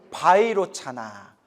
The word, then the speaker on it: Vairocana: 바이로카나 . 그들 은 비로자나 의 소리 를 따서 이 네 개 의 한자로 옮겼습니다 . 바이로카나 . 원래 발음 은 바이로 카나 입니다 .